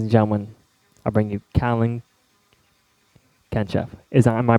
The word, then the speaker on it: Kalin Genchev: may be ladies and gentlemen I bring you cowling catch F is am i pronouncing your name right yes okay thank you